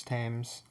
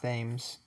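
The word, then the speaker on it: Thames: I know it's not Tames. I'll look it up after this recording. But let's get started. But yeah, I do know it's not ths like how it's spelled. It's it's it is the t sound.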